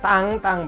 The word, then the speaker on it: Tintin: Tang tanyain Iin nya tidak terpisah penggalan maka tank-tank barunya Tintin gitu ya ini di tepang tahun